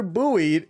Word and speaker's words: buoyed: I don't know how to pronounce that. Buoy. Oh, buoy? Baba buoy, baba buoy. This rumor was further buoyed.